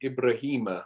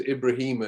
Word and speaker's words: Ibrahima: Yeah, Abdul Rahman Ibrahima, or just Ibrahima, as I called him in the book.